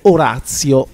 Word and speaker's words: Oratio: su un artista chiamato Orazio. Immaginiamo che la grafia Oratio si vada pronunciata alla latina, ma detto questo non ne siamo poi del tutto sicuri.